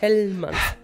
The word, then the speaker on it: Hellmann's: Pero no es, tampoco es con J. No. Es con H, es Hellmann's. Hellmann's.